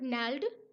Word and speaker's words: gnarled: अब ये GNARLED, इसमें जी साइलेंट होता है, और नैल्ड डिजीज, नैल्ड डिजीज होती है गठिया बाव, गठिया की बीमारी होती है जिसमें हड्डियां मुड़ जाती हैं।